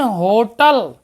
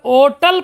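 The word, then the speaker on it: hotel: आइन होटल, ध्यान दीजिएगा, तो होटल तो लिखा है, ओटल पढ़ेंगे, यच साइलेंट कर देंगे तो आइन लगा देंगे, और यच नहीं साइलेंट करेंगे तो ए लगा देंगे।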